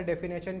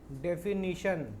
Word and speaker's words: definition: तो सबसे पहले अपने देखेंगे इसका डेफिनेशन क्या होता है। डेफिनीशन, ठीक है, डेफिनेशन नहीं होता, डेफिनीशन होता है। स्पेलिंग याद रखना, NA नहीं होता, NI होता है।